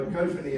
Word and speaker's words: ecophany: Okay, so ecophany as opposed to a cophony, I don't know exactly